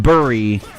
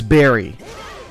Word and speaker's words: bury: in to bury something isn't actually pronounced bury the correct pronunciation at all times is Barry and it's not even a thing where it's like oh it can be pronounced this way in that way it's literally Barry is literally how you pronounce it correctly and that was [